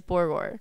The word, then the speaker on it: Borgore: They just make fun of the way I say it because I put it like two syllables. So what's it supposed to be? It's supposed to be like Borgore.